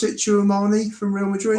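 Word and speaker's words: Tchouaméni: Is that how you pronounce it? Chouamani from Real Madrid? Chouameni, yeah, of Real Madrid fame.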